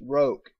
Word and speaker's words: roque: It's pronounced roke, Daddy was saying.